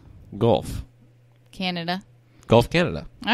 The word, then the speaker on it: Guelph: Gluff, Canada? Gluff? Guelph. I don't know. Guelph. How would you pronounce that? GLE. No, Guelph. Gulf.